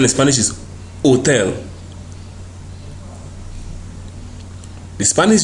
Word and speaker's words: hotel: and is usually silent wherever you find the Spanish H it is not pronounced it is silent just like in the word Hotel the correct pronunciation in Spanish is Hotel the Spanish J is